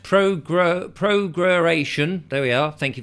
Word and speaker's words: prorogation: It says prorogation, pronounced prorogation.